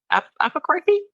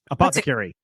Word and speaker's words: apothecary: And then we had I say it wrong every time. Apocarthy? Apothecary. That's it.